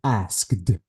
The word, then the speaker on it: asked: ask it okay uh this e is the e sound is deleted I have to say asked asked H what about this